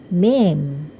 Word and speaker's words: meme: Nah, sebenarnya bahasa Inggrisnya adalah meme. Okay? Next, number 20. Pulau itu cara membacanya island.